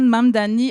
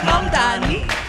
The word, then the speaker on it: Mamdani: le candidat social-démocrate Zoran Mamdani a remporté l'élection. The name is Mamdani. M-A-M-D-A-N-I. The name is Mamdani. M-A-M-D-A-N-I. You should learn how to say it.